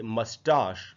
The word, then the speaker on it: moustache: उसके बाद जो वर्ड है दोस्तों वो है MOUSTACHE, और इसको हमको पढ़ना चाहिए मस्टाश। मस्टाश इसका ब्रिटिश प्रोनाउंसिएशन है, इसका अमेरिकन प्रोनाउंसिएशन है मस्टैश। तो इसलिए ब्रिटिश में बोलेंगे मस्टाश, अमेरिकन में बोलेंगे मस्टैश। और फिर उसके बाद जो